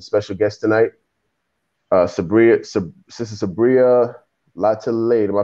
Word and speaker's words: Lataillade: just myself and special guest tonight, Sister Sabria Lataillade. Am I pronouncing that right? Sabria Lataillade. Lataillade.